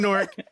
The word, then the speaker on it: Newark: I'm born and raised in Newark, and this is how it's supposed to be pronounced, N-O-R-K.